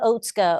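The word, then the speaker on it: Otsuka: And I will just to make a finer point uh spell out oatska o tsuku ka because sometimes it's uh yes, it's pronounced differently than than the way it looks, right?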